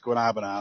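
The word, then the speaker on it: guanábana: right that's good stuff if you say it right it's guanabana a lot of people say Guana guanabana is that isn't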